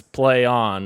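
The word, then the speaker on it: Plaion: i o n and they're expecting people to just know that it's play on and not like playing or plain i don't even know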